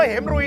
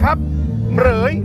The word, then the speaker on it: เหมรฺย: จะ รู้ ใช่ เหรย อย่า อ่าน ว่า เหม รุย นะ ครับ เหรย เหรย มี ทั้ง หมด ด้วย